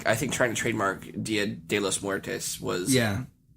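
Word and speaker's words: Día de los Muertos: Dias de Muertos. I was looking it up so I could actually pronounce it correctly. Mi español. It's Dia de los Muertos.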